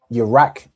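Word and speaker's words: ירק: So I rack is how you'd say something is green.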